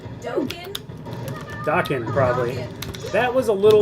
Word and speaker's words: Dokken: Dokken, yeah, that's how you say it. Dokken, really? I always thought it was Dokken.